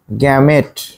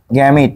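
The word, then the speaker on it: gamete: কি ইম্পর্টেন্ট নাম হচ্ছে গ্যামেট আসলে ইংলিশে কি হবে জি এম ই টি গ্যামেট বা আমরা অনেক সময় উচ্চারণ আরেকটা কি করি গ্যামেট গ্যামেট বা কি গ্যামিট একই একই কথা গ্যামিট বা জার্ম সেল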